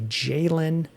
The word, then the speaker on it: Jalen: Other guys still on the team, we mentioned so they've got a 4th-round rookie, Jalen Wright, which rhymes with Braylon, the day 3 rookie on the Jets.